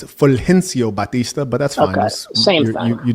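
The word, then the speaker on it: Fulgencio Batista: Fenciago Batista. I believe that's the pronunciation. That's wrong. It's Fencio Batista.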